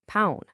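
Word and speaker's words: pão: When you're at the pingo dose buying pound, that's bread.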